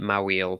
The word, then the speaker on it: Mawile: So this one is Pokemon known as, now I pronounce it Mawile, but I know some people call it Mawile, so whatever your preference, none of my business.